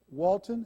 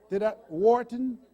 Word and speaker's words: Wharton: He has an MBA from Walton. Am I pronouncing it? Wharton? Yes. You see why they had me in special education.